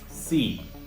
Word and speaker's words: c: should you pronounce it it is saying that like the TS at the end of tests or its okay but you have